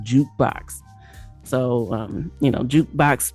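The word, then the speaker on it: JKBX: should I say this the letters are j k b x but it's pronounced jukebox so um you know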